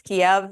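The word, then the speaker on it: Kyiv: changed to ke and the difference is Kev is Russian and ke is Ukrainian so that's why if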